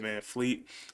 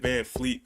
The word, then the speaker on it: VanVleet: along with it, Fred VanVleet, and somebody told me how to say his name. It's not Fred VanVleet, but it's just Fred Van. There's no L in it, so Fred VanVleet.